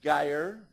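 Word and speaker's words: Gaier: And if you promise not to mention my name, I will tell you who you want to talk to is Geyer, rhymes with fire, G-A-I-E-R, Dietrich, spelled diet rich.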